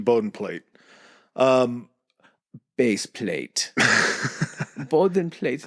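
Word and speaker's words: Bodenplatte: plate um base plate bden plate is how you say it in German and the LOF had some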